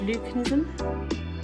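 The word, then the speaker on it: leucism: You can also get all white peacocks, and that's because of a genetic trait, and it's called leucanism.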